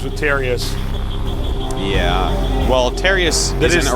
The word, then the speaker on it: Terius: over here representing foyu his name rhymes with nefarious for you there's a